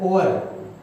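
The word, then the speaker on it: hour: मिल रही है किसकी, होवर की। इसको कई लोग तो बोलते हैं होवर, लेकिन ये होवर नहीं होता है, साइलेंट होता है, ये होता है ओवर, ओवर होता है, ठीक है, ओवर बोलते हैं, और ठीक है, और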